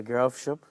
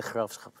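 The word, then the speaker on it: Graafschap: انا عارفه اسمه ذا جرافشوب بس بالهولندي ذا خرافشخب يعني جي اتش نطق اخ فتلاقي ذا خرافشخب فالموضوع صعب شويه بس انا اتعلمت هولندي شويه برضه.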